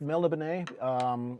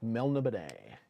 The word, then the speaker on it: Melniboné: Click out, it's Melniboné. I have an audiobook of Elric of Melniboné and Sailor on the Seas of Fate, where the introductions are read by Michael Moorcock himself, and that's how he pronounces it.